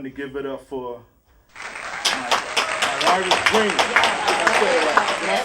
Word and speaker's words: Mylira: So I want everyone to give it up for Mylira Green.